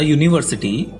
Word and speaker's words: university: Let's look into words which starts with a vowel letter but the starting sound is of consonant. A European, a university, a 1 rupee note. These all letters starts with a consonant sound.